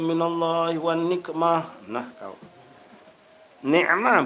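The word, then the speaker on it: نعمة: Ni'mah bukan nikmah. Ni'mah itu nikmat. Nikmah itu bala artinya, kebalikannya. Jadi nak benar-benar hati-hati bacanya.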